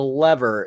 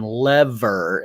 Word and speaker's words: lever: When Finch tells Evie to back away from the lever at the end of the movie, he pronounces the word in the American fashion lever. In Britain, the emphasis is on lever.